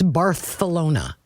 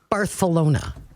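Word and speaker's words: Barcelona: Well, and why in Spain is Z, which is zed, pronounced Bar or C is it's Barthalona. Yeah, Barthalona.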